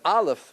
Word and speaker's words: Aleph: it you heard it no sound silent right there's something spiritual doesn't have a sound the highest point in spirituality it has no physicality The Aleph has no physicality it's